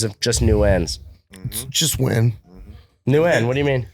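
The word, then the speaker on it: Nguyen: __ ] talking about no buddy it's the number one Vietnamese surname and it's win it's new n what the is the n for it's silent in their language you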